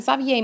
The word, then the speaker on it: s'habiller: have S apostrophe, and that's because habiller, the H is silent, so it's a vowel sound. So it's going to contract, s'habiller.